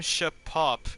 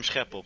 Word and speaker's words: Scheppel: Yeah, I'm from the Netherlands, but you pronounce it a little bit different, but it's alright. So, How would you pronounce your name? Scheppel, Scheppel eigenlijk.